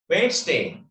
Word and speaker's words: Wednesday: Wednesday. Wednesday. D. Yes. D. Oh, D. Wednesday. Wednesday. D is silent.